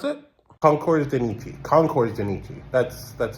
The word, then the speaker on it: Concours de Nice: to this, I don't even know how to pronounce it. Concours De Nice. Concours De Nice.